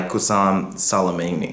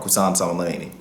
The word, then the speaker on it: Qasem Soleimani: an anti-Israel and anti-US terrorist organization led by Qasem Soleimani. Oh, I'm sorry, I'm saying his name wrong, Qasem Soleimani.